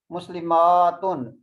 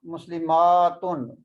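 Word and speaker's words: مسلمات: Tanween is common in both Muslimatun and this is also Muslimatun. We will prolong this alif. We will pronounce this alif. So we will say Muslimatun. Ma, we will make it long. Muslimatun.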